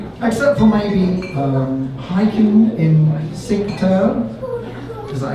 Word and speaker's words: Cinque Terre: Well, not necessarily all the time, except for maybe hiking in Cinque Terre. Is that how you pronounce it? Cinque Terre, yeah.